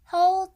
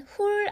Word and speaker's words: hull: Hull the strawberries and cut them in half. H-U-L-L. 발음은 훌 아니고 hull.